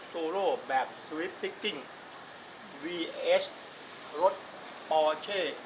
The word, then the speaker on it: Porsche: r c h e German เขา ออก เสียง สั้น ๆ ว่า ประมาณ นี้ ปอร์เช่ ไป เลย ก็ แล้ว กัน ประมาณ